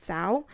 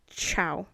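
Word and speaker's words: Zhao: i'm saying it wrong i thought it was pronounced sao but i think it's pronounced with more of like a ch like a chloe chow um i'm sorry if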